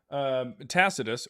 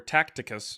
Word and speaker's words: Tacitus: Tacitus or Tacticus because people have never actually read Tacitus.